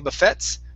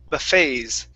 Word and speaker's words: buffets: Okay, so that T there is silent. Instead of saying buffets, this is buffets.